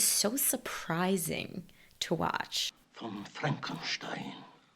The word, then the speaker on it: Frankenstein: movie anger management that's frankenstein i beg your pardon my name it's pronounced frankenstein mr hilltop would you